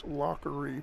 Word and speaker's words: Lockery: I was pronouncing Toby's last name incorrectly. It's Lockery.